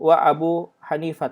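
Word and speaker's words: أبو حنيفة: batalkan pernikahannya lokal sapu2 Abu Hanifah ia berpendapat Imam Syafi'i dan Imam Abu Hanifah Hanifah ini kalau termasuk Isim yang kalau diajar warisnya ke atas jadi bacanya Abu Hanifa tak layap suhu nah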